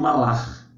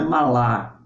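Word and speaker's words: מלאך: nós temos o termo malar não é não é Malá é malar é aquele e eh som arrastado né e malar malar é a a pronúncia do termo hebraico para anjo se referindo a mensageiro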